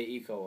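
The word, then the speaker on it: Ico: hard to go back and play them uh ieko and Shadow of the Colossus I know there's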